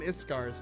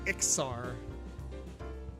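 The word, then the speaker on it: Iksar: I always call them Iskars, man. The S before K. I mean, because, I mean, honestly, to me, it sounds like Iskar, but it's actually Ixar.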